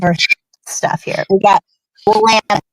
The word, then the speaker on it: Willamette: We got Willamette, right? People say Willamette. No, it's Willamette.